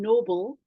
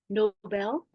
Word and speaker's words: Nobel: The word Nobel Prize is not as in being noble. It is actually after a name of a person, Alfred Nobel. I think it's pronounced Nobel.